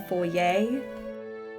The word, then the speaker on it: foyer: I prefer when it's pronounced foyer. I do like foyer. We were playing feline forensics and I had to say foyer a lot, but some characters I believe would say foyer.